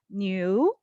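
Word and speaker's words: 牛: ox and interesting enough cow or ox is pronounced as new so almost the same pronunciation as new so when you say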